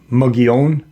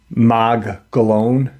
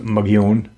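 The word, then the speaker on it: Mogollon: know um why was and the it's actually pronounced um mugon but the Caucasian pronounce it mag galone it's m o g o l l o n but it's pronounced mun um Do You Remember remember the cave paintings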